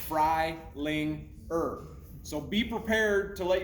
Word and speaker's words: Freilinger: And so I had to explain to my counselor, like it sounds Freilinger.